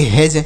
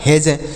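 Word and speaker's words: hedge: नहीं ब्रिज पढ़ा जाएगा एच ईडी जी ई तो यच से ह ई से एक ही मात्रा और डी का उच्चारण नहीं करेंगे और जी ई से ज तो इसे पढ़ेंगे हैज इसे पढ़ा जाएगा हैज नेक्स्ट वर्ड देखते हैं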